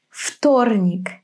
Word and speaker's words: вторник: So when the consonant after V is voiceless, V becomes F. Завтра. Вторник.